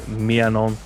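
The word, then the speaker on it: Maignan: I've been trying to learn how to pronounce that correctly. It is Mianon. It just sounds very odd in an English accent.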